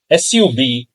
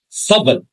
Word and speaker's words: subtle: SUBTLE. Students usually mispronounce it in two ways. Either they say subtle and they don't know that B is silent. And another way of mispronunciation is subtle.